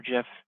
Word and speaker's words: GIF: you're not going to have a gif or Jif depending on how you want to pronounce it the most most systems